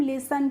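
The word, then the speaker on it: listen: यहां पे जो टी होती है वो क्या होती है? साइलेंट होती है। इसलिए हमें टी का प्रोनंसिएशन यानी कि उच्चारण नहीं करना होता है। इसीलिए हम इसको लिसन पढ़ते हैं।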